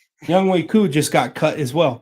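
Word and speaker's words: Younghoe Koo: Like, we've seen when kickers No, Young Hoku just lost. Young Hu, my bad. Sorry. I'll say it. I'll say it properly. Young Way Coup just got cut as well cuz he was missing kicks.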